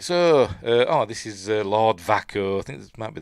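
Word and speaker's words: Vaako: It's spelt V-A-A-K-O. And apparently David Toohey, when he made up that name, with two A's in it, thought it was pronounced Vaco.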